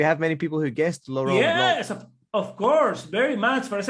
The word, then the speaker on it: Laurent Blanc: I think it's Laurent Blanc, we would say. Laurent Blanc. You say blank.